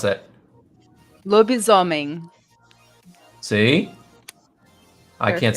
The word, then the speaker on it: lobisomem: Anna, how do you pronounce that? Lobisomem.